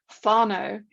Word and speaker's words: whānau: because I've got what the New Zealanders call whānau, which is spelled W-H-A-N-A-U.